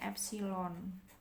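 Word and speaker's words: ε: Ini bacanya eta, ini bacanya epsilon.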